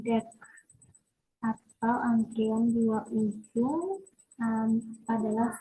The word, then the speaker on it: deque: Nah, di sini diucapkan deck atau antrian dua ujung adalah struktur data seperti Q yang mendukung penyisipan dan penghapisan di kedua ujung depan belakang.